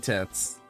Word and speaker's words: TITS: Just average day using tits. You know, I know that's how it's said, because that's its, like, acronym for Twitch Integrated Throwing System. But it doesn't fail to not sound weird.